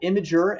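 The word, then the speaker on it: Imgur: at atlassian uh laurel led creative strategy at imager and yes that is how you pronounce it uh that's where i got to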